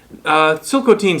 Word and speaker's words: Tsilhqot'in: are still the first silk teen spell with a t is the original way of pronouncing the word that's been anglicized as chilcotin the chilcotin country is